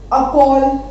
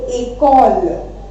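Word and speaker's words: école: ये एक्सेंट नहीं होगा तो हम इसको क्या पढ़ेंगे? अकोल. But with this accent ई बन गया ए, तो इसको हम बोलेंगे एकोल. ठीक है, एंड एकोल means school. एकोल means school. तो इसका प्रोनाउंसिएशन चेंज हो गया ना, तो ये प्रोनाउंसिएशन चेंज करने के लिए एक्सेंट लगाया जाता है. ओके, ई के ऊपर एक्सेंट है इसलिए ये बन गया एकोल.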